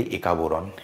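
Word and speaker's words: একা-বোরন: এবার আমরা এটা বাংলায় উচ্চারণ করি। একা বোরণ।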